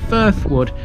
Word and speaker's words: Frithwood: a conservation area and although it's spelt frithwood on os max many locals call it firth wood as in the neighboring firth wood road famous hunter and anthropologist